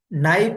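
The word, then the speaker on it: knife: कॉम कॉम इसमें बी नाइफ में क्या है इधर के पक में क्या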